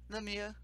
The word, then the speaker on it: Lemieux: Lemieux.